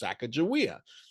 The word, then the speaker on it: Sacagawea: maybe it was Sacagawea if you go down to the Shoshone tribe to this day they will say her name is Sacagawea I've Got Friends and